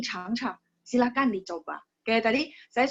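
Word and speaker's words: 尝尝: Yang huruf kedua biasanya orang baca dengan nada ringan, sehingga nggak terlalu kaku ya. Jadi, 请你尝尝.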